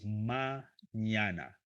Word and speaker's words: mañana: Uh, how to pronounce mañana? Okay. Mañana. Okay. Mañana. Ña, ña. Remember that letter in Spanish, okay? Ña, ñe, ñi, ño, ño.